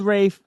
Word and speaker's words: Ralph: You know, if he wants to be called Rafe, that's fine.